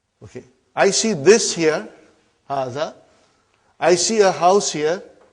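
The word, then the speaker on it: هذا: Haza see it is pronounced like ha. Huh? But this al if is not written. Huh? It is explained in the key also.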